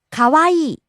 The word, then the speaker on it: かわいい: おいしい、 Next, かわいい、 pretty, cute, lovely, かわいい、かわいい、 rising on the second syllable Wa, falling on the last syllable E. かわいい、 Next, 若い、 young, わかい、若い、 rising on the second syllable Ka and falling on the last syllable E.